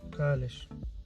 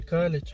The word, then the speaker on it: Kalisz: Калиш. Не Калич, а Калиш. Город Калиш основан в 850 году.